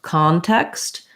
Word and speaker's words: context: don't forget you're in so context is an example of c-o-n words often will have the ah sound if they're stressed in the first syllable sometimes if they're unstressed